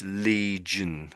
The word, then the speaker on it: legion: Although there's an I there, we sort of ignore it, you might say. So, it's legion. Legion.